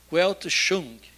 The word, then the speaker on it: Weltanschauung: E tem essa expressão alemã, que eu vou arriscar aqui na pronúncia, eu botei no Google várias vezes, para ouvir a pronúncia, então eu vou tentar ver, que a gente diria mais ou menos assim, Weltanschauung.